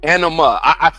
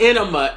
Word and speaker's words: anima: It's anima, not enema.